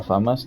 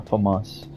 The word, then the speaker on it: FAMAS: Que le he dicho la FAMAS todo el walkthrough, pero en realidad se pronuncia FAMAS.